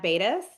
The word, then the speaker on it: Beidas: Bettis. Do you want to go ahead and introduce yourself? Yeah. Hi everyone. My name is Rhymes with Glad Badis.